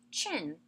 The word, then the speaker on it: Qin: after another the Qin Dynasty yes it is pronounced chin the first dynasty and the first emperor to